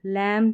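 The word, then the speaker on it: lamb: MB भी हम silent में देख चुके हैं, इसको मो। लैम, थम, ये रिपीट होते रहते हैं।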